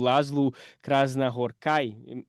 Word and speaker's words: László Krasznahorkai: agora, do ano passado, o László Krasznahorkai. Enfim, tô entendendo que essa é a pronúncia, já vi gente falando com outros acentos, mas essa foi a que mais ouvi.